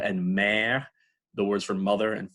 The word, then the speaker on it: mère: People make the mistake of thinking that's like a père, mère kind of sound. But if you really listen to the pure French pronunciation, it's p, e, e, r, père, m, mère.